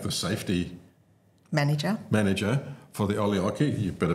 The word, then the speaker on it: Olkiluoto: For the Olkiluoto, you better pronounce it more correctly. Olkiluoto Power Station, which is a nuclear power station in Finland.